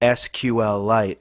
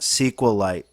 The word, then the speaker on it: SQLite: And by the way, he does pronounce this product SQLite and not SQLite, as some folks pronounce it.